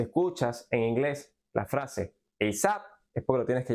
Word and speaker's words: ASAP: aprevia de esta manera y se pronuncia eap eap eap por ejemplo alguien te